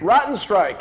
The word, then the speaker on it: Rottenstrich: have rotten how do you pronounce the last name matteo rotten strike and uh she's the ceo of zago manufacturing